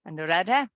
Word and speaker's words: Anuradha: not an ah tiger I'm just trying to pronounce the name correctly and and nuradha Anuradha yes take it away thank you greetings Madam